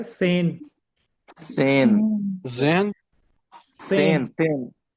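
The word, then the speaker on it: zehn: है सेन सेन सेन सेन एस की आवाज आएगी सेन सेन या इसको अगर आपने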